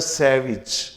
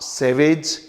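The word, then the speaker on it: savage: अगला शब्द है सैविज। Look at the pronunciation first, it's नॉट सैवेज, इट्स सैविज।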